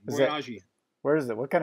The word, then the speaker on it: Boyajian: Boyajian is the easy pronunciation. Boyajian.